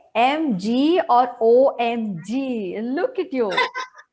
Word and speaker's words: MG: Guys, So, talking about Madhura, okay, MG is pronounced as MG.